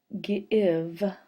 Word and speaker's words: give: In this word, we have a vowel and then a consonant and then an E, but the vowel is making a short sound. It's saying I.